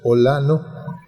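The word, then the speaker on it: OĽaNO: ¿Cómo se pronuncia eso? Olano.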